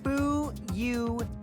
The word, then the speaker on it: Fuyuhiko: My first name is pronounced Bu-Yu-Hi-Ko.